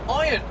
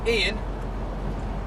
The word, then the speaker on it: Ian: Now, I had no idea that the name Ian from England, spelled I-A-N, is actually pronounced iron in America.